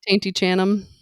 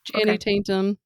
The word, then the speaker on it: Channing Tatum: um, Tainty Chanum. I was like, "Did you just say taint? Did you say Yep, taintum?" Okay. Channing Tatum.